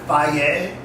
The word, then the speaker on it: Fage: It spells Fagee, but they pronounce it FI.